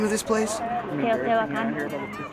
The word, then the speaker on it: Teotihuacan: Teotihuacan. Teotihuacan?